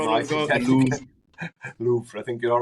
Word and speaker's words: Louvre: Is that another pronunciation No, problem I we've think, got? Louvre.